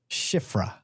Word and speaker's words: Shifra: Shifra. Yes. There we go. Shifra. Yep. What is that? Shifra is from the Bible. Matt, you should know this one. Shifra and Pua.